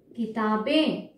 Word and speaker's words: किताबें: ये बिंदी भी आएगी, क्योंकि बोलते समय हमारा कैसे उच्चारण हो रहा है? किताबें, ठीक है? अनुनासिक आ रहा है, नाक में आवाज आ रहा है।